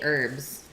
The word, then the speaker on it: herbs: what's that herbs pervs I always say herbs there is no H or if you spell